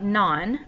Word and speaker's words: non: whereas the next one it looks like none but that is not how you pronounce it it does mean no